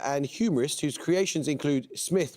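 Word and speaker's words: Psmith: humorist whose Creations include Smith with a silent P idge Uncle Fred Lord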